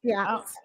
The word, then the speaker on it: Basquiat: Yeah, Basquiat.